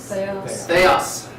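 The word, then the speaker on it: θεός: How do you pronounce that? Theos.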